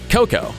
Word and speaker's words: coco: The problem is that if you put the accent on the first syllable, you get the name of the fruit, but if you put it on the second syllable, how to put it mildly, that's basically what people's natural residues are called.